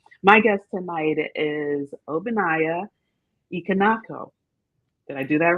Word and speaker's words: Ihenacho: My guest tonight is Obinaya Ihenacho. Did I do that right? Ihenacho. Close. Ihenacho.